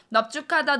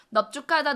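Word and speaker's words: 넓죽하다: 넙죽하다 넙둥글다. 넙죽하다 넙둥글다. 얘는 뭐라고요? 그렇지. 비읍을 발음해주고 앞자음 리을을 탈락시킵니다.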